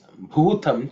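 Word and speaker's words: भूतम्: The next mantra is Bhutam Chame. Bhutam Chame. Bhutam Chame. The, in terms of pronunciation, the first letter is Bhu, which is the fourth letter in the Pavarga. So that has to be aspirated.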